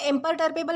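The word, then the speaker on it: imperturbable: दोस्तों इसे इम्परटर्बेबल प्रोनाउंस किया जाता है, जिसका मतलब होता है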